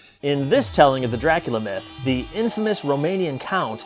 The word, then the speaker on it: Dracula: The sound is so intriguing. 3 syllables. Dracula.